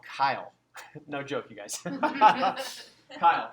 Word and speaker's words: chyle: Now, fatty lymph is actually called chyle. No joke, you guys. Chyle, but it's spelled with CH, right? So chyle with a CH. So it's kind of like, it's spelled like child, but it's pronounced Kyle.